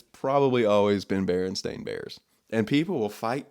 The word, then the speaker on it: Berenstain: more shocked that the barren stain Bears is pronounced Berenstain Bears and not Berenstein you know what I mean Landing has always